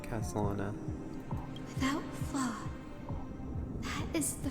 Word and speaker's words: Khaslana: The wishes of all the countless versions of you, Lord Kuslana. So that's how it is. Okay, that's how you say his name, Castalana.